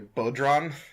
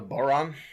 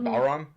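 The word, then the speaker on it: bodhrán: I recently had it explained to me that the drum is not called a bodron, it's called a boron, or a bauron.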